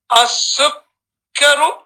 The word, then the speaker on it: السكر: Because here you have a shadda on the kaf. So you read it twice. You're going to read it with a pause. So you say as your sugar. As-sukkaru.